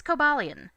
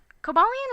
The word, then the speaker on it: Cobalion: official romanization, which is written Cobalon, but the kana used are pronounced Kobaruon, so Cobalion's honestly closer.